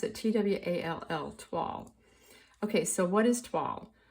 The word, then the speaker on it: Toile: You pronounce it tw L.